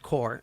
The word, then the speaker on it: Corps: So it's CA Climate Action Corps, all one word, and Corps CORPS. But it's said core, okay? Yeah. But it's spelled PS.